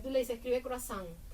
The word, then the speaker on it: croazán: De ahí sale la escritura de croazán con C ru eh a s a n croazán, ¿no?